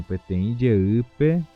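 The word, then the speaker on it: Peteĩ jey: Petem jeu. Então esta seria a forma de pronunciar em Guarani era uma vez.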